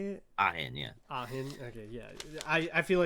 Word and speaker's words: Ahin: Ahin, yeah.